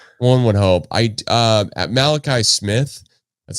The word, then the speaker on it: Malachi: wildcat with olly one one hope I uh Malachi Smith that's how you say it though if